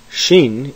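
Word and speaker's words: ש: differentiated however in transliteration shin is pronounced like the sh as in shu tav is pronounced like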